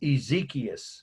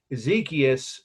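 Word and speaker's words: Exekias: last or her last name so this is ezekiel we know who he was i'll explain in a minute and that's spelled e x e k i a s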